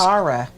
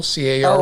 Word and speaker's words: Carol: I think it's Cara. It That's says how you pronounce her name. Carol, C-A-R-O-L. Oh, is it Carol? Oh, I didn't know if it was Cara.